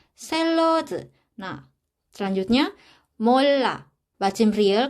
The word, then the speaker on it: 샐러드: 샐러드. Nah, di sini kan bacim realnya, terus di depan realnya ini kan ada huruf konsonan yaitu real juga. Jadi kita bacanya ini sebagai L. 샐러드.